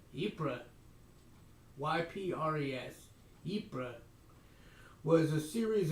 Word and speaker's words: Ypres: I can't pronounce this word. Ypres? Ypres.